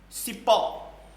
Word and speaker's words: cipó: Cipó. Olha lá, cipó. Última sílaba, última vogal, terminada em O, tá certo? Portanto, é a sílaba mais forte, ok? Além de ser mais forte, ela é a última.